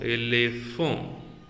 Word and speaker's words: éléphant: So H is being silent. P plus A. Pa. N plus T. Oh. N plus T. The last letter in French normally it is not pronounced. If it is a N, it will be off beat, and if it is a T, no beat at all.